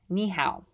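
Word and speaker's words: 你好: the taiwanese mandarin characters and it would be pronounced niihau nihao to say thank you which you should learn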